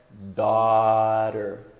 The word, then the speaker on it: daughter: Então, o GH normalmente ele é mudo, então filha é daughter.